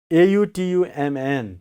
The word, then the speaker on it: autumn: Now, A-U-T-U-M-N. How do you pronounce?